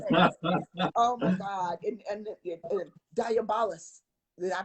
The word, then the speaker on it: Diabolus: And Diabolus. Did I pronounce that correctly? That's the devil. Diabolos.